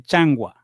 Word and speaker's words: changua: Sí, es no se dice changua, se dice changua.